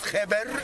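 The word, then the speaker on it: kheper: But also in hieroglyphic, the ancient Egyptian writing, the figure scarab was a word written, looks like scarab, pronounced kheber, means good.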